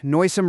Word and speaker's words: noisome: The trick, noisome rhymes with loathsome, both meaning offensive, never loud.